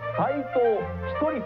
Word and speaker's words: 斎藤一人: ランクインした斎藤 1 さんと読みます 54 歳の方